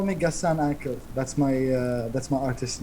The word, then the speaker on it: Gassan Aqel: But yeah, like I removed Al and I trimmed the H from after the G, and so like people can pronounce it easy. Yeah. So it's Gassan Aqel.